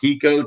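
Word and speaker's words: Hico: the kid is from is it pronounced heco texas or hicko texas i believe it's heco texas all of it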